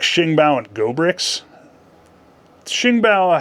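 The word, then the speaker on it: Xingbao: my Chinese is terrible I had to look up how to pronounce Shing bow okay it looks like Zing B if you're an American so anyway so that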